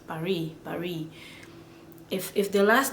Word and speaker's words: Paris: When it's consonant, like Paris, the S in Paris, they don't pronounce it because that S is a consonant. The S is silent, completely silent. Paris.